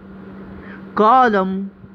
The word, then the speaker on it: column: physically critically critically okay अब ऐसे word जिसमें अल्फाबेट एन साइलेंट हो autumn autumn column column dam dam hem hem